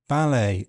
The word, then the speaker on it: ballet: in words ending s ten, fasten, hasten, listen, and in some imported French words such as ballet and chalet.